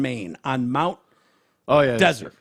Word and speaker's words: Desert: lives here in Maine on Mount oh yeah desert pronounced like Sahara not Sunday Mount desert island how